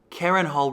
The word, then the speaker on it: Karenhal: Karenhal rhymes with Harrenhal.